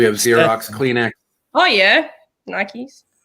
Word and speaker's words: Nike: was just thinking wait do you pronounce them nights nike yeah yeah yeah yeah it's nike okay like like rocky